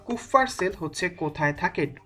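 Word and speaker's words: Kupffer: ভর্তি পরীক্ষা 2016 সালে কাফফার সেল বা কুফফার সেল হচ্ছে কোথায় থাকে উচ্চারণটা ডিপেন্ড করে হচ্ছে কে কিভাবে উচ্চারণ করছে সেটার উপরে আমরা কাফফার সেলই হচ্ছে উচ্চারণ করব তো কাফার সেলটা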